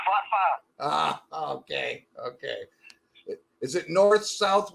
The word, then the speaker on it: Forfar: You're pronouncing that wrong, my man. It's Forfar.